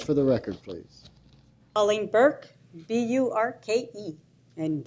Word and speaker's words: Burke: the record please Colleen Burke b-u-r-k-e and the E is silent um I just wanted